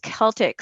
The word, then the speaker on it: Celtx: thought it was pronounced celtics it is actually pronounced celtics so the c stands for crew celtics stands